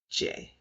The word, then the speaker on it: Jai: Before we get to that one, uh, you pronounce the name J A I as J. That That's a top one, too. J like just J. Just spelled a little different.